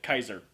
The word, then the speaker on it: Caesar: Even though we say it's Caesar, the Romans would most likely call it Kaiser.